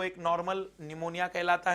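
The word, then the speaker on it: pneumonia: निमोनिया, निमोनिया पर spelling कहां से शुरू होगी, पी से। निमोनिया, पी साइलेंट है जो कभी नहीं बोलेगा, मतलब निमोनिया।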